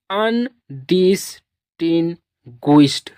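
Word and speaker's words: undistinguished: और ED को पढ़ेंगे डा। ED को आप लोग पढ़ेंगे डा। तो इसको पढ़ेंगे अनडिस्टिंग्विश्ड, अनडिस्टिंग्विश्ड। पूरा वर्ड का प्रोनाउंसिएशन हो गया अनडिस्टिंग्विश्ड।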